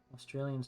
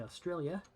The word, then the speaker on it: Australia: Australians do not pronounce the final L in that word. You may have come to realize that, Grey League. They do not say Australia. They say Australia.